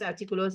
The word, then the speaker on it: artículos: Artículos de sporting things, artículos de deportes. Accent on the I.